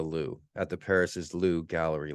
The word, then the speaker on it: Louvre: At the Louvre, it's pronounced the Louvre, at the Paris's Louvre gallery last September.